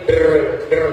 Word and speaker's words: DRW: Jadi bacanya kadang-kadang belibet der gitu. Iya betul loh. Jadi bacanya bukan DRW mereka der.